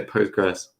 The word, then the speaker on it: Postgres: which i don't yeah it's like ql is not pronounced it doesn't exist people just say postgres well at least it's